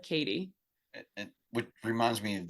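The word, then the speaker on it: Cady: mispronounces her name too he calls her caddy and she said oh no it's like Katie and what reminds me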